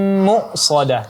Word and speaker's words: مؤصدة: Ya, kemudian alaihim muqsadah. Nah, di sini hamzah yang sukun, bukan huruf ain ya, maka di sini ditekankan bunyi hamzahnya yang sukun. Muqsadah, bukan mu'sadah, tapi muqsadah ya, dan di sini sifatnya syiddah, maka sedikit ditekan.